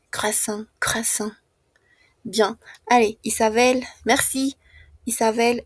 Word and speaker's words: croissant: Croasan muy similar a la pronuncia en fran. Croissant.